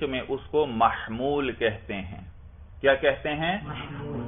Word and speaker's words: محمول: اور جو خبر ہے منطق میں اس کو محمول کہتے ہیں. کیا کہتے ہیں؟ میم ہا میم واو لام، محمول.